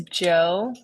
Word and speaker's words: Djo: Um, but his name is Joe, but it's spelled DJO.